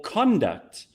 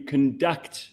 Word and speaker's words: conduct: might not have realized a number of words in English are nouns when you stress the first syllable but verbs when you stress the second H your conduct is better when you conduct yourself appropriately conduct being